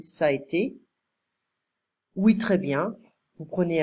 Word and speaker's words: ça a été: Plus tard, ça a été, I don't pronounce the middle, I'm just saying, ça a été.